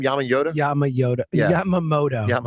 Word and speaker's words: Yamamoto: Yamama Yod Yamamoto. Yamamoto.